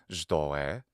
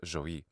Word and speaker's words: ζωή: Phanerozoic comes from the ancient Greek Phaneros, visible, and ζωή, life. By the way, I'm using the classical Attic pronunciation today. Modern Greeks pronounce these words Phaneros and ζωή.